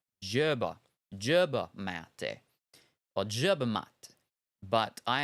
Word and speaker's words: yerba mate: The South America sound isn't really like the J in Germ. It's more like the J in Cajun. Caj, Yerba mate.